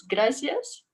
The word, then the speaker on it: gracias: So let's say gracias all together using normal se, because that's how they say it in Mexico. So you don't have to turn on your microphones, just say it and make sure you pronounce it the Mexican way today.